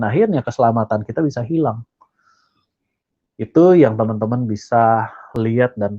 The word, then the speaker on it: id: Jadi manusia itu secara psikologis terdiri dari 3 area. Ada ide gitu ya, tapi bacanya it.